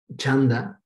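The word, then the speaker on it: छन्द: gramática, nirukta, etimología, chanda, la C, como se van a dar cuenta en sánscrito, la C no se tiene que poner una H para que suene como che. O sea, si tú ves una C en sánscrito significa che, ¿no? Entonces, por eso es chanda, métrica, la métrica.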